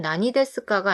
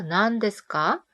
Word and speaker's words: 何: 근데 낭이랑 난이 두 가지 패턴으로 읽어요. 그래서 뭐예요 존댓말일 때는 나니 데스까가 아니라 난 데스까? 뭐야 반말일 때는 나니라고 읽는 거에 주의해 주셔야 돼요.